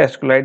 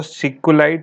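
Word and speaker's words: SQLite: हम एसक्यूएलाइट बोलते हैं, कुछ लोग जो इसकी सही प्रोनाउंसिएशन होती है वैसे वो सिक्यूलाइट होता है, तो आप कुछ भी बोल सकते हो, कोई ऐसा इशू की बात नहीं है। सिक्यूलाइट, ओके, SEE इसे ऐसे प्रोनाउंस करते हैं।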